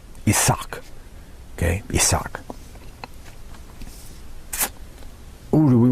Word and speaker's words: Isaac: dropped by the Persians, probably because in Hebrew the accent fell on the last syllable. Isaac.